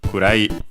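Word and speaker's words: 暗い: It's unaccented, so kurai.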